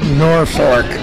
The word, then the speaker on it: Norfolk: from Norfolk North yeah nobody knows how to pronounce in the office I hear they're folk and everything else except Norfork right the way it's supposed to be yep all these lots